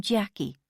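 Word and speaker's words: Chaquie: I'm Jackie, she smiled. She was about 45, but from a couple of feet away, she could have passed for at least 10 years younger. And that's spelled C H A Q U I E, she added.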